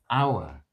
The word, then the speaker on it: hour: GI yes Rebecca dropped our beautiful Rebecca dropped hour so let's see if there are any homophones